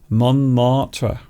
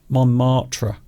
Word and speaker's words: Montmartre: Would you like to have a look at the place that Steve mentioned earlier, Montmartre? Montmartre. Which Beautiful. we're not pronouncing correctly, but Well, I of think course you have to roll your R's at the end.